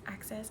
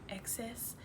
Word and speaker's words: excess: to say access, but it's not pronounced access, it's the excess.